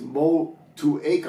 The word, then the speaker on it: Motueka: it looks like it's mold two-acre hops I've heard a pronounced multi multi Iike but I just found a video literally from this new zealand tourism board or something and it's a city in new zealand and it's